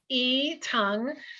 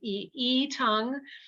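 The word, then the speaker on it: yi tang: can you pronounce it e tongue so we just we don't really pronounce the y particularly it's more just the ee tongue um barley malt sugar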